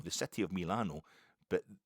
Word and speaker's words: Milano: And Italians pronounce the I like an E. So they call it Milano. The city of Milano.